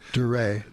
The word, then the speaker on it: Dryer: The correct way to say Mr. Fred Dreyer. Duray. Fred Duray.